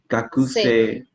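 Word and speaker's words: 学生: gakusei. Gakose. Actually, the you don't need to pronounce it. Just that's fine. Gakusei. Oh. It's like silent U.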